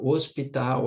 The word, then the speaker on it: hospital: o h por exemplo o h Inicial ele é mudo então ele não forma som né ele não forma